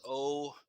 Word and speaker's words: Oxx: His name is OXX, but it's pronounced Ox.